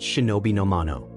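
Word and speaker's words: 忍の者: same Chinese characters that in classical Japanese were pronounced shinobi nomano.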